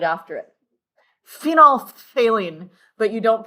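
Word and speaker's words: phenolphthalein: Phenol phthaline. But you don't pronounce the th. It's just or actually you don't pronounce the ph in the middle. It's phenolthalene. Phenolthaline.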